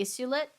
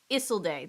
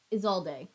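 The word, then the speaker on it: Isolde: you say her name how do you say it I love the story I should be able to say it iset um is day Isel day that's how you say it um is all day is all day there we go I got there eventually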